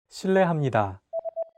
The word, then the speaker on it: 실례합니다: R and an L, don't pronounce it like an English R. Listen to how Jay is pronouncing this sound. 르, It sounds like a mixture between an R and an L sound.